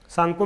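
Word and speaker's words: Tsangpo: करके लिखते जाना सांगपो सांगपो में टी साइलेंट होता है अंग्रेजी वाले बच्चे ध्यान रखेंगे डैश या एरो करके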